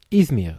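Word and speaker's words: İzmir: it right ismir ismir ismir oh so it's ismir the stress goes like this where is it in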